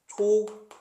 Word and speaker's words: 촛불: 초 플러스 불인데 실제 발음은 촛불 이렇게 납니다.